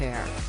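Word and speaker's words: Aire: boy's name from Wolf to Air, pronounced Air.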